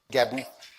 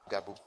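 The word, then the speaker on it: Gabu: Le suivant c'est Booba B ou B A Le prochain c'est Gabou G A B U Gabou Gabou le suivant c'est Kanchungo c'est A N C H U N G O Kanchungo comme du chewinggum.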